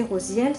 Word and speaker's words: Raziel: à suivre la cage raziel prononcé rosiel ce qui signifie secret